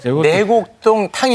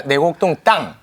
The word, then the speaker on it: 내곡동 땅: 생태 땅이 아니라 생태탕. 내곡동 탕이 아니라 내곡동 땅.